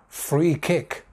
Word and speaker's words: free kick: Next one, free kick, free kick. Two words, two definite stresses.